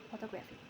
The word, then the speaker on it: photographic: Photography in primary stress falls on the first syllable, while in photographic the stress shifts to the second syllable when the suffix "ic" is added to form photographic. The main stress moves again to the syllable immediately before the suffix, resulting in the pronunciation photographic.